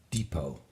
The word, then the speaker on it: Depot: Now, you might have jumped into your Chevrolet, pick up supplies at the Home Depot. Again, that T is silent.